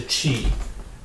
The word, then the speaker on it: qi: It's the qi. It's the qi. Pronounce it as qi.